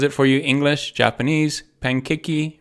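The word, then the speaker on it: パンケーキ: Look, there's pankeki, right? So you don't even have to know how to write it. You just have to trust Google that Google's right. This is how you say pancake in Japanese.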